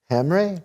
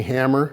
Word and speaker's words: Hamre: a special guest very special super special hamrey did i say it right you betcha how many people get your your last name most people just call me hammer and i just go with it hammer it's